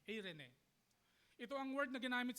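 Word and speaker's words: εἰρήνη: Sa wikang Greek naman, ang salita para sa kapayapaan ay or kung English ang ang pronunciation, Irene, E R e N. Irene, ito ang word na ginamit sa Romans 5:1.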